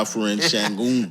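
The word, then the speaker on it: Alperen Şengün: Yeah, Afen Shangon.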